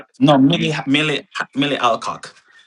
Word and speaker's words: Alcock: She her her name is Amelia Adcock. No, Millie. Millia Ameilia Alcock. Ameilia. Amelia Alcock. I'm sorry for pronouncing your name that way if you hate if you hurt.